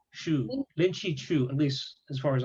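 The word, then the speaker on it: Lin Zexu: Yeah, Lin Chi Chu, Yes. like So shoe, like you wear a shoe. Lin Chi Chu, shoe. Lin, Lin Chi Chu, at least as far as I know.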